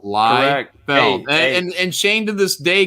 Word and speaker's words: Liefeld: It sounds it sounds exactly how it's spelled. Liefeld.